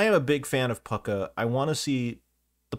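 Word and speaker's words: Púca: called that no no we pronounce pucker correctly is what we're actually doing we're pronouncing it correctly I know people say puka but yeah it's Pucker or at least I say it's pucker there are several pronunciations and I think that they're all valid I know I'm just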